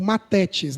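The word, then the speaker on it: μαθητής: aprendiz contínuo em informação, mafetes ou matetes, né? Porque é th eh não se pronuncia no no hebraico, no no grego.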